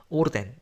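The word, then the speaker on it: orden: 오르덴, 이것도 뭐 질서, 명령 이런 뜻인데 n으로 끝났으니까 뒤에서 두 번째에 강세가 오고요.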